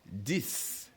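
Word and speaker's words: dix: So 10 and 6 of course are almost similar. The only difference is with the S on 6 and the D on 10. And of course the pronunciation are pretty much the same. So we have 6 and 10.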